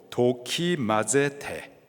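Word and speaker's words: δοκιμάζετε: 분별하다. 헬라식 발음으로 도키마제테. 영어로는 테스트.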